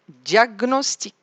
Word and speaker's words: diagnostic: Le G, je vais prononcer le G tout seul et le N tout seul. Comme gnou, gnou, diagnostic, stagner, stagner, gnome, gnome, diagnostiquer, diagnostiquer.